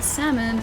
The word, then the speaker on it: salmon: Why is the L silent in salmon?